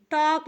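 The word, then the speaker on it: talk: यहां पर लिखा है टी ए एल के टॉक लिखा है तो टी को हम ट लिख देंगे ए है ट ट पे ओ की मात्रा हो जाएगी और यल साइलेंट है जिसे हम नहीं पढ़ते के को हम क पढ़ते हैं हो गया टॉक टॉक का हिंदी मतलब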